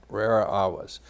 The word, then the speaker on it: rara avis: Rara avis. You might know it if I mispronounce it. It would be rara avis, avis being bird, rare bird.